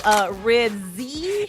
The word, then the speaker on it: Ribisi: Yeah, it was like phonetically Ribsy.